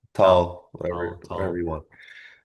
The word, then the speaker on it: Tal: Is it pronounced TA? Tata. Yeah. Tal. Tal.